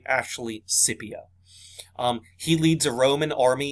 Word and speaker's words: Scipio: is publius cornelius scipio okay um many people pronounce his name as scipio but it's actually scipio he leads a roman army in spain okay